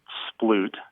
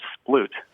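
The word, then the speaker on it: sploot: in with a question about a strange verb splut that U that I've heard used in reference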